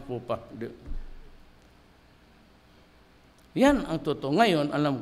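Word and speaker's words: faux pas: you read it TH It's Fox pass pronounce fupa Yan ang totoo ngayon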